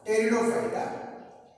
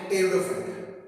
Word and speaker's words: pteridophyta: that is thallophyta, bryophyta, pteridophyta. Here it is P is silent. So there are 3 divisions. Cryptogams are classified into 3 divisions: thallophyta, bryophyta and pteridophyta. Is it clear? Thallophyta, bryophyta and pteridophyta.